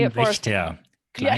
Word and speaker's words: Kleinwächter: Kleinwächter. Yeah, Kleinwächter. Now, please, everybody watching this, try to pronounce it Kleinwächter.